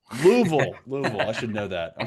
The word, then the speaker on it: Louisville: It's pronounced Louisville. Louisville.